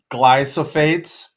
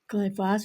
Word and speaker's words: glyphosate: I've got in my notes that your vineyard is free of glyophates. H glyphosate.